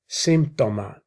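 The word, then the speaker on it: σύμπτωμα: Symptoma is how it's pronounced in Greek.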